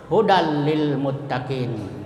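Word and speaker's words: هدى للمتقين: Contohnya hudal lil muttaqin. Jadi dan tanwin ketemu lam. Contoh yang lain mir rabbihim.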